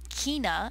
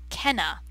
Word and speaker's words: Kena: here on the lovely lovely guitar is Ken Kina Zamora uh she would like it like everyone to know that it is pronounced Zena and not or Kina and not Kenna she is is she was the unexpected Miracle